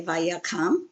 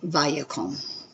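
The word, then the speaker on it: וַיָּקָם: It looks like you would say vayakam, but here you have your two kametz in a row. So your accent is going on the first syllable, or the yod, first vowel. So you have vaya. This has a mem on the end, so it is a closed syllable. It does not have an accent, therefore it is an O, vayakom.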